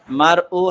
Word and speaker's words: مرء: يوم يفر হ্যাঁ, ইয়াউমা ইয়াফিরুল, يوم يفر المرء হ্যাঁ من أخيه মারউ হামজা না আইন, এটা এটা مرء حمزة হ্যাঁ, তাহলে মারউ مرء من أخيه মিন মিন أخيه কয়ের টান হবে কি হবে না?